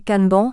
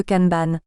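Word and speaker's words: kanban: Mura Moura Murri MRI canban qui devrait se prononcer canban si on voulait respecter la langue japonaise mais tout le monde parle de canban vous n'êtes pas obligé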